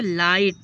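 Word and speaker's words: light: जी एच टी युद्ध इसी तरीके से लाइट जी एच है लास्ट में लाइट लाइट मींस क्या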